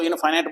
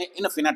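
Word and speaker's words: infinite: इनफिनिट, ये इसको इनफाइनाइट बोलते हैं आमतौर पे, लेकिन इनफिनिट है इसकी सही प्रोनाउंसिएशन।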